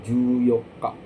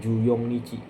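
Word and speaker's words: 十四日: Nah, untuk di tanggal 14 dia pakainya juyoka ya. Juyoka bukan juyongichi bukan pakai juyoka ya punya panggilan tersendiri.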